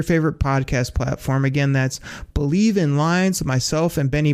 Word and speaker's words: BLEAV: That's called Believe, and that's spelled BLEAV in Lions, Believe in Lions with myself, and Lions legendary safety, Benny Blades.